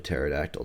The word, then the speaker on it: pterodactyl: It landed, but I mean, it landed as gracefully as a pterodactyl does.